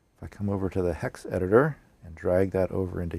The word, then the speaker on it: hexed.it: It's called HexEdit, but it's spelled HEXED.IT.